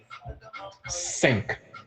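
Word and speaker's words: cinq: say five in French sink you guys got that right sink and it's spell c i n q s six how do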